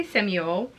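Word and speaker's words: Shmuel: That might be pronounced Samuel in English, so we're gonna say Samuel. It just has a S-H-M-U-E-L, so Samuel David.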